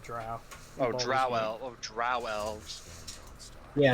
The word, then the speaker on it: Drow: Drought? You mean druid? No, there is a race called Drow. Oh, drow elves.